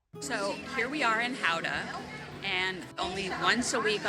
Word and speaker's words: Gouda: the town is called Howa. So the G is kind of like an H sound. Gouda. Howa. So here we are in Howa and only once a